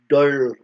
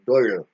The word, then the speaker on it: Dole: killer from do brance do do is d o l e but if just the way you guys want to pronounce it but I pronounce it that da because I'm par princh